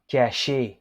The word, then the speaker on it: cacher: But in French, hiding is pronounced as cacher.